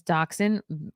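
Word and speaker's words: dachshund: cream long-haired miniature miniature doxin do you know I learned to pronounce this word as doxen only very recently maybe in the last year or two English cream long-haired miniature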